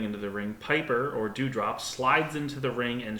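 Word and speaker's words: Doughdrop: her backstage is dewdrop spelled d-o-u-g-h-d-r-o-p and specifically notes pronounced dewdrop not doe drop both of those are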